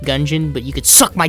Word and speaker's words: Gungeon: of the dungeon also disclaimer I know it's pronounced gungeon but you could suck my dick each dungeon